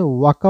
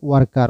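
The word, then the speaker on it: worker: ব্রিটিশরা ওয়াকা বলে আর আমেরিকানরা বলে ওয়ার্কার, আমেরিকানরা আরের উচ্চারণ করে। তো লাস্টে যদি আরের উচ্চারণটা আসে আপনি ওয়াকা বলতে পারেন বা আরের উচ্চারণটা করতেও পারেন, যেমন ওয়ার্কার, ওয়াকা বা ওয়ার্কার বলতে পারেন।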